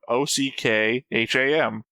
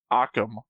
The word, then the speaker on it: Ockham: to William of Ockham, OCKHAM. Like the third sentence. Yeah. Okay, this one does have a pronunciation. Not that I've ever been able to read these. Ockham. OK-EM. Occam. Occam's razor.